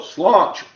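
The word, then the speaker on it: Sláinte: Oh, slaunch.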